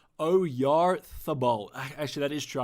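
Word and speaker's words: Oyarzabal: He is pronounced Oyarthabal. Actually, that is true. I remember there was a th in there.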